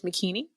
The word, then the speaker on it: Makini: thing I say is my name is makini rhymes with bikini just so good but